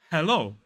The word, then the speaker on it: hello: it'll be more like hello than hello hello let's break this word down the first really important thing is that in a modern British RP accent we voice that H sound that H I'm getting